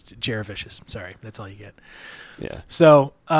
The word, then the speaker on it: Jurevicius: that's and although it's not how you actually pronounce the last name, it's Joe Jurevicius.